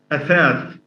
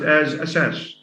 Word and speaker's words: أساس: The tha of athath, for instance, أساس. is mispronounced as asas. And as you know, I mean, athath and asas are totally different forms.